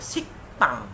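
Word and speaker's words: 식당: Kemudian ada siktang, dibacanya siktang, bukan siktang, siktang. Karena giak bertemu digat, giaknya akan berbunyi dengan keras ya, dengan sangat jelas, itu k, siktang.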